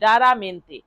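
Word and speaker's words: raramente: থেকে করবেন আর এ আর এমই এন টিই রারামেন্তে। আবার যারা ইংরেজি বানান না করতে পারবেন তারা বাংলা বানান করতে পারলে এই বাংলাটাও বানান করে নিতে পারেন।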